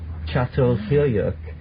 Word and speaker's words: Çatalhöyük: Actually spelled C-A-T-A-L, but it's called Çatalhöyük.